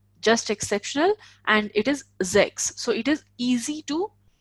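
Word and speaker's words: sechs: Sense. Okay, so as I told you, S is pronounced as Z, and Okay.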